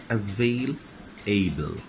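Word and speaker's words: available: wrongly pronounced ওকে মিসপ্রোনাউন্স হয় এভেলেবল হ্যাঁ কিন্তু উচ্চারণ হবে এভেল এবল এভেলেবল I went there and হি ওয়াজ নট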